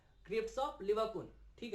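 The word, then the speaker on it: Lieberkühn: है, ठीक है, वो कहलाता है क्रिप्स ऑफ लिवरकुन। ये प्रेजेंट कहां पर है भाई, विलाई के बेस में, स्मॉल इंटेस्टाइन के अंदर, और इसको क्या कहते हैं, क्रिप्स ऑफ लिवरकुन, ठीक है।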